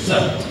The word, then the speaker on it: সৎ: কারণ বাংলাতে আমরা যেমন সৎ অসৎ বলি ওরকম না, সংস্কৃতে সৎ মানে হচ্ছে, উচ্চারণটা কিভাবে করে জানেন? এই জিভটাকে দাঁতের গোড়ায় লাগিয়ে উচ্চারণ করে সৎ সৎ এরকম করে।